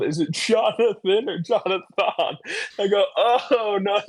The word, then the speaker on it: Johnathon: if you don't know how my name is spelled, it's J O H N A T H O N, right? Jonathan. It's spelled weird.